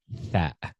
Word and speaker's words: ث: You see, at the top, this is tha. Okay, tha. Tha. You see, it's very, very important to pronounce a tha clearly. Your tongue, the tip of your tongue goes between the teeth, touches the upper teeth.